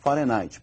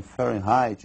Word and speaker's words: Fahrenheit: que é a escala Fahenheit. Para eles lá, eles pronunciam Fahrenheit. E nós vamos pronunciar aqui do modo aportuguesado, ou seja, nós vamos falar de Fahenhe mesmo.